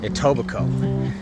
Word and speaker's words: Etobicoke: So, just to talk about where we've been walking, uh, the West Humber Recreational Trail goes through Atobbico. Now, Tobico is spelled a little weird.